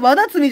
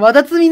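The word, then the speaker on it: ワダツミ: とワダツミのワダツツミじゃないとワダツミなんだ発音むずーこのね私に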